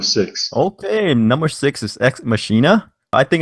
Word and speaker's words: Ex Machina: point okay I think the way they pronounce it was ex machina okay yeah but it's